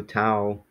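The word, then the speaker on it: ταυ: like that and then tau it's just kinda like when we say the word ouch like ow so tau that's that's this letter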